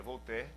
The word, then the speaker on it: Voltaire: muito conhecido na verdade se escreve Voltaire lá em português mas se pronuncia vou ter ele em todas as